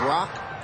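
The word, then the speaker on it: 六: that's Rock to itch the number six is rock and the number one is pronounced itch one two and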